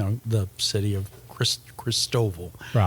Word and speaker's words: Christoval: the city of Chris Christoval as the locals pronounce it um and I just